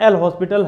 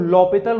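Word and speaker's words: L'Hôpital: वो क्या है, आपका एल हॉस्पिटल है ना। अब डॉक्टर एल हॉस्पिटल, कुछ लोग लॉपिटल रूल भी बोलते हैं। ठीक है, क्योंकि एच साइलेंट होता है तो लॉपिटल रूल के नाम से भी इसको जानते हैं।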